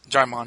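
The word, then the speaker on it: Djimon: Jaimon, yeah. Okay, because I've never actually heard his name said out loud. Yeah, I thought it was Digimon for a long time. It's Jaimon.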